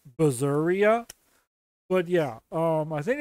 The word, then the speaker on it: Berseria: of tales of berseria basically berserk you know like the word Berserk but instead of Berserk it's berseria but yeah um I